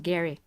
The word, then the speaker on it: Gary: It's pronounced Gary. It's not Jerry. I'm sorry, I apologize. Yeah, I know many people mistake that. It's like Gary Halliwell from the Spice Girls. That's how it's pronounced.